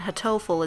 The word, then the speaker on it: Hatoful: pigeon in Japanese and hatoful is a play on the word hartful but the Japanese pronunciation is phonetically identical to hurtful so let's go with